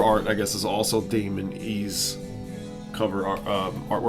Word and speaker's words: Damin Eih: Damon E rhymes with flaming tree. Damon E.